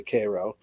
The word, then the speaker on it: Cairo: It's spelled like Cairo. Um, so you only know if you know that it's actually Cairo.